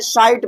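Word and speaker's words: side: यहाँ पर जो हमारा ई कहाँ आ रहा है, साइड में, ये कहाँ आ रहा है भैया, लास्ट में आ रहा है, यहाँ पर हम इसी को प्रोनाउंसिएट नहीं करेंगे।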